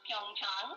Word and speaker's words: Pyeongchang: It is pronounced Pyeongchang, and that's a county, a kind of rural area in Korea, about 130 kilometers from Seoul.